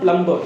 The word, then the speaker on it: plumber: Generally people say plumber, generally people say plumber, but this is not plumber. As I told you, B after M is silent, so it will be plumber, plumber.